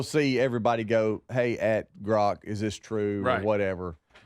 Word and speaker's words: Grok: Is it Grok or Gronk? It's Grok. There's no N in it. Right, Rhymes with rock.